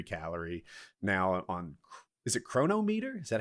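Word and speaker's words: Cronometer: i track every calorie now on is it chronometer is that how that's pronounced yeah chronometer chronometer anyway chronometer works too but a chronometer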